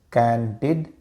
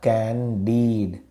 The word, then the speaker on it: candid: A candid person speaks openly without hiding their real thoughts. Let's take a look at the pronunciation. It's candid and not candid. Remember, the stress is on the first syllable, candid.